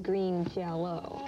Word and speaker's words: Green Jelly: Now, Joe, the band is called Green Jelly, and it's even spelled Green Jelly, but yet the pronunciation is Green Jello.